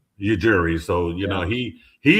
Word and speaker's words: Ujiri: new team president Masai Well, how do you pronounce his last name, Dustin? Masai Ujiri. Ujiri.